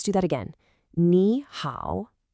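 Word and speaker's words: 你好: First, I want you to listen really closely to the tones. It's nihow. Let's do that again. Niha.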